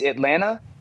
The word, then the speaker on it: Atlanta: Also, Pat, I found out last night I You don't pronounce the second T in Atlanta. It's Atlanta.